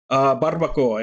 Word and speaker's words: barbacoa: Barbacoa, it's a kind of taco. Yeah, that's how it's spelled. But it's pronounced barbacoa.